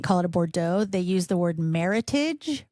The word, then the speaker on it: Meritage: they use the word meritage which looks like heritage but with an M and they pronounce it heritage not maritage but um that's